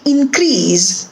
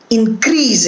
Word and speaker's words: increase: want to increase it so here also the stress in the first word is on in for syllable and when it is used the second time it is used as a verb and the syllable that is stressed is the second syllable increase another example the weather